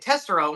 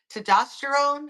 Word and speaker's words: testosterone: To I'm gonna say it the way I say it. Tessterone, which I know is not right, but is testosterone.